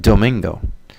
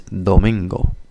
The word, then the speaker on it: Domingo: it would sound like Domingo definitely has a gringo accent there so you have to use the tip of your tongue more so instead of Domingo it's Domingo the the almost like